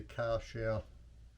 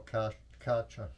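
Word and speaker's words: Kärcher: The other one I looked at was the Karcher, or Karcher, however you want to pronounce it.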